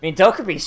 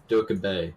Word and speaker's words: Dokubei: I mean, Dokubi's shotgun goes pretty far. You're pronouncing your name wrong. No, I'm pretty sure it's Dokubi. Dokubei. Dokubei. She is Bay.